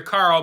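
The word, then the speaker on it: Qarl: So, because if you don't have subtitles on, you're just gonna hear Carl, but his name is spelled Carl with a Q.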